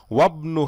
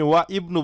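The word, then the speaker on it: وَابْنُ: ওয়াবনু হামিদিন feel জামিআতি, এখন এই যে মাঝখানে আসছে, মিলেই পড়ার সময় হামজাটা আপনি সাইলেন্ট করে দিবেন। ওয়াবনু হামিদিন, আপনি ওয়া ইবনু বলবেন না, ওয়াবনু হামিদিন, হামিদের ছেলে, ফিল জামিআতি, ইউনিভার্সিটিতে।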